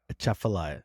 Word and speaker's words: Atchafalaya: You're a little heavy on the T. Okay. All right. Heavy on the T. Heard that. Pull back on the T. Atchafalaya. So the T is still there, but it's just before It's right hidden before in the- it's in the CH.